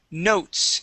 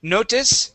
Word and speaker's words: notes: This next word here is notes. Instead of notice, okay, it is notes. Notes. Good. Notes. Yes, the E is silent.